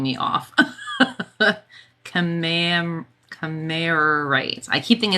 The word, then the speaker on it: Kammererite: It is Kammererite. Kammererite. That second ER is what's throwing me off. Kammererite.